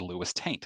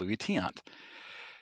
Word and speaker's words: Luis Tiant: And he said it 4 more times as Lewis Taint, which confirmed that he has never, ever heard of Luis Tiant.